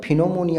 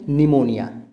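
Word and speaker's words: pneumonia: अगर यहाँ पे पी साइलेंट नहीं होगा तो फिनोमोनिया हो जाएगा। तो इसको कैसे प्रोनाउंस करेंगे? निमोनिया, P silent.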